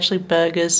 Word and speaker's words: BRGRS: And yes, the actual name of the chain is actually Burgers, spelled like that, BRGRS.